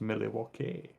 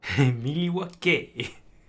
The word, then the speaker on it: Milwaukee: It's pronounced Milwaukee. Milwaukee.